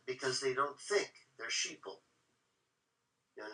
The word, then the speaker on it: sheeple: a play on words we call sheep sheeple because it rhymes with people right yeah okay so